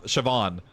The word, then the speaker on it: Siobhan: like that word and then know that it's pronounced sha Siobhan there's no way like chevron that makes sense